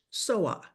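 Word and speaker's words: Soha: El título es Mil Pasos y la cantante es, I would pronounce it in Spanish, Soa, because we know the H is silent as in hola, right?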